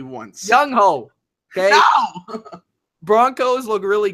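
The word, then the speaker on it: Younghoe: Young Wei Koo. Young. Fuck him. Just say one. Just say it correctly once. Young Ho.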